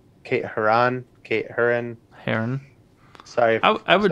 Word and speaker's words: Herron: name right it's kate herron it's spelled h-e-r-r-o-n okay her on kate herron heron sorry i would i would assume heron because that's how the bird is spelled but very pronounced but